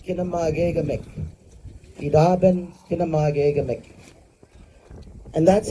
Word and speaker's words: Kinoomaagegamik: And of course, at the time, our language teachers helped us with, instead of saying school, we say Kinoomaagegamik.